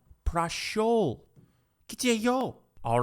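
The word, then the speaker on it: прошёл: Prashel? Huh? No, prashol.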